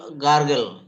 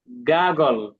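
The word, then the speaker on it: gargle: You will গার্গল। গাগল। গার। গাগল। হ্যাঁ, আরটা এটা উচ্চারণ। আরটা উজ্জ থাকবে। হ্যাঁ, গাগল। আবার উচ্চারণ করলেও হবে, উচ্চারণ করলেও ভুল হবে না। গারগল বা গাগল।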